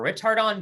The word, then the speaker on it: ritardando: can read it back ritardando remember retardando that's how we're going to pronounce it is an italian word that means to gradually